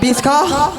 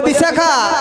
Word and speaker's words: বিশাখা: ও মাসি আমার নাম বিষা খা আচ্ছা মায়েরা বলুন তো আমি কি ভুল নাম বলেছি বিষ খাকে ভুল বলেছি ভুল কি করে হবে বিষা বিষ যুক্ত খা আমি কি তোমাকে ওই কমাটা দিতে বলেছি ওমা ওটা দেওয়া যাবে না না ওটা দেওয়া যাবে না একবারেই উচ্চারণ কর সত্যি তুমি বাবা